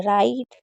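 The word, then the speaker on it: write: जब भी डब्ल्यू आर साथ में होगा तो डब्ल्यू को साइलेंट रखेंगे। यानी कि अगर डब्ल्यू और आर साथ में हैं तो आपको डब्ल्यू को नहीं पढ़ना है। सिर्फ आर को पढ़ना है।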